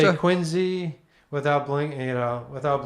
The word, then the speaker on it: Quincy: You pronounce Worcester. W you say Worester, you say Quinzy without blink, you know, without blinking.